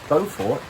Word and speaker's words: Beaufort: We are in Beaufort, South Carolina, which the locals apparently pronounce as Beaufort.